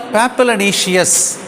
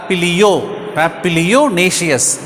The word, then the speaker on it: papilionaceous: What is the meaning of papilionaceous? Now see that papilionaceous, but we have to pronounce it as papilionaceous.